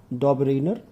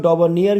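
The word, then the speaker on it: Döbereiner: इनको कुछ लोग डॉबरनियर भी बोलते हैं, तो इनको कुछ लोग डॉबरनियर भी बोलते हैं, कुछ डॉबरेनर बोलते हैं। ठीक है, आपको जो भी कंफर्टेबल लगे आप उच्चारण कर सकते हैं, उससे ज़्यादा मतलब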